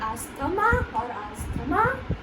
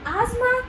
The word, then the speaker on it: asthma: Is it called asthma or asthma? Well, you just have to remember that over here the T is not pronounced. TH is not pronounced.